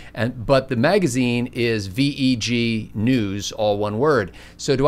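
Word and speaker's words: VegNews: a vegan magazine suit so it's a hard G okay and but the magazine is VE G news all one word so do I call that V news or do I will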